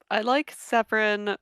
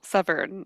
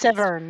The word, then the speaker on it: Severn: I like Severin because, well, Severn, I think his name is pronounced. Severn, yes.